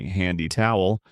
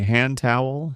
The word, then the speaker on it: hand towel: We don't usually say handy towel. We link it and we say hand towel.